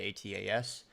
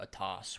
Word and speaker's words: ATAS: need to subscribe to atas um atas is free which the quality of or I think I I think I'm saying it wrong by the way the actual developers call it a toss which it's a terrible